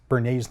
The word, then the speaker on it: Edward Bernays: whose name was Edward Bernays Bernays not spelled like the sauce but spelled BER any YS and what Bernie's did